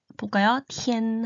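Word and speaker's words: 天: 예를 들면은 하늘을 중국어로는 티엔이라고 읽어요. 한번 한자를 따라 읽어볼까요? 티엔 하면 돼요. 그런데 여기서 티는 자음이에요. 자음. 그리고 티 나머지 빼고 나머지는 모음입니다.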